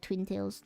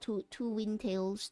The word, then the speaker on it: Twin Tails: Twin Tails, yeah, that's how it's pronounced, like Twin Tails, not two wind tails, two wind tails.